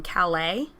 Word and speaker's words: Calais: Like, England lost some lands in Calais, I think is how you say it. It is.